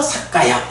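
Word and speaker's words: sakkāya: 잘 봐야 하는데 요게 연음이 되다 보니까 사트 아야가 아니고요 앞에 t k 바뀌면서 바뀌면서 사까야 요렇게 된 거거든요 자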